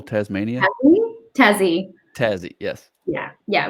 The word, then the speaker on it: Tassie: We like to shorten everything. We don't like to say more than 2 syllables if at all possible. So if we can take something longer and make it shorter, we will do it. And if it's too short, we'll add a second syllable sometimes. So if your name is Dave, you'll become Davo. That's just what happens. 2 syllables. You got to go for the 2 syllables.